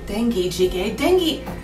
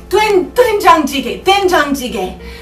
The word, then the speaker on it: doenjang jjigae: and it is called dengue jjigae. Isn't dengue a disease, Jerry? My kind producer has corrected my pronunciation. It is doenjang jjigae.